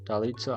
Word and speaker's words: Dalitso: Okay, Dalitso. I think I'm saying that right. Let's see, how does SpeakerBot say it? Dads are cool. I appreciate that sentiment. Dalitso. Dalitso? Okay, cool. Dalitso. I'm saying it right.